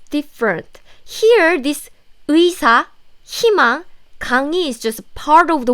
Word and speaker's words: 강의: I said if this 의 sound is in the middle of the syllable, not in the first syllable, then you pronounce it like 이, as in 강의.